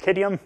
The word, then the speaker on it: Qadium: me I'm gonna say it's called kid iam there's the phonetic pronunciation so where are we